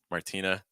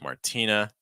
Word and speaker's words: Martina: one here Martina Martin Martina notice that now we're because the stress is on the T um we're not doing the hell T sound anymore so like Martina Martina and sopia all right